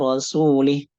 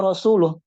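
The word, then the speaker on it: رسوله: berlepas diri dari rasulnya karena harusnya bacanya anallaha barium Minal musyrikina wa rasuluh artinya apa Allah dan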